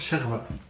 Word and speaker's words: chorba: shorba. Non, avec l'accent, moi, la personne elle m'a dit ça se prononce sherba.